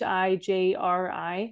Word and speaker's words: Hijri: I don't even know how you pronounce it. It's Hijri calendar.